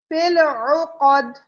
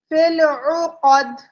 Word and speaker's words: فِي الْعُقَدِ: فِي الْعُقَدِ، فِي الْعُقَدِ، تو آئین کے اوپر پیش ہے، اس کو کھینچنا نہیں ہے، قوف کو بھی نہیں کھینچنا، آئین کی آواز اچھے سے ادا کرنی ہے.